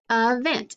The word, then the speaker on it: event: i'd say event now the e is open but it doesn't make the long sound it makes that schwa sound the uh sound it sounds like a short u event and that's how we